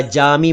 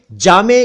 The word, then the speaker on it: जामे: असल में जामे शब्द का अर्थ है बड़ा या बड़ी, तो जामा मस्जिद या जामे मस्जिद का अर्थ हुआ बड़ी मस्जिद। उच्चारण तीनों चलते हैं, जामे, जामी और जामा।